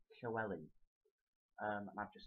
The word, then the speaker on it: Llewellyn: um do a short video about how to pronounce the Welsh name Chelli um I've just said it so the first